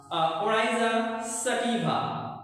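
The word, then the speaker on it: Oryza sativa: সে কষেত্রে আমি তোমাদের মূল বই থেকে তোমাদের উচ্চারণগুলো একটু আমি শিখিয়ে দেই। প্রথমটা হচ্ছে ধানের বই নাম ওরাইজা সাটিভা।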